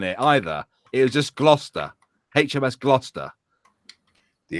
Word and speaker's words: Gloucester: So First of all, mate, it's Gloucester. why I got so many letters then? It's not pronounced Gloucester, right? It doesn't even have a fucking H next to the C. It's Gloucester. You motherfuckers have a Gloucester in America, right? And you pronounce it like it as well.